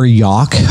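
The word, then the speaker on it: Yough: And we happened, it was on the upper Yauk, I guess is how they pronounce it. It's Y-O-U-G-H. Yaukagany. Yeah, the Y-O-U-G-H, Yauk.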